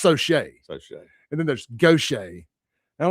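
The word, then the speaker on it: Gautier: Yeah, but the way they pronounce these names in Mississippi, I'm still just in the last few years realized that Gaudier and Gaucher are the same place.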